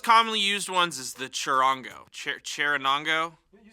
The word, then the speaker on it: charango: One of the most commonly used ones is the charango.